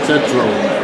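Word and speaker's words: Tetreault: Raymond Tetro. How do you spell that last name?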